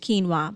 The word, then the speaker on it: quinoa: quinoa for example two UI in a way pronounced quinoa but that is what my family uses as